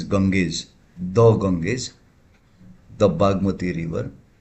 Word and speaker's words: Ganges: The Ganges, we call it Ganga here in Nepal and in India, but it is pronounced as Ganges.